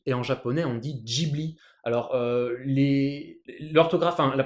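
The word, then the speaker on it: Ghibli: français on dit studio Gibli et en japonais on dit giibli alors les l'orthographe la prononciation japonaise c'est sûr et certain c'est Jibli en français on peut dire les deux mais de base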